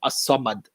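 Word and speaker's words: الصمد: The alif lam is silent in the pronunciation of the word as-samad.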